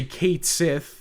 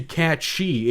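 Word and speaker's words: Cait Sith: it's very likely because I don't want to say Kate Sith the incorrect pronunciation and I also want to say catchy it's correct Gaelic pronunciation he learned something new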